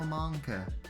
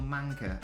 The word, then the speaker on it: Manker: thank you so much will monker i will manker apologies have been pronouncing your name incorrectly but yeah just oh